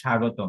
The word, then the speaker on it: স্বাগতম: সেই ফলা রূপে যখন আসে তখন তার উচ্চারণটা ব হবে না, তখন তার উচ্চারণটা ওয়ার মতো উচ্চারিত হয়। ঠিক আছে, যেমন ধরেন স্বাগতম, স্বাগতম বানানোর ক্ষেত্রে আমরা শয়বে বলছি।